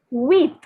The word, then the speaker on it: huit: The word for 8 is wheat. Wheat. So the H is silent and it is pronounced as wheat.